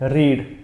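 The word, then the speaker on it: read: Third form में भी, बस सिर्फ प्रोनाउंस करने में थोड़ा डिफरेंट है, रीड रेड रेड।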